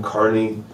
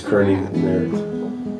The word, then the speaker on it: Kearney: name is carney people learned how to pronounce my name probably not but some people think it's kerny there's riffs in my own family on how to pronounce it but um can't happen